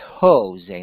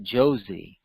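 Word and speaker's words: José: bit of Spanish, that the J sounds like an H, not a Y, but like we say in Jose. It's spelled with a J, we say Jose, not Josie.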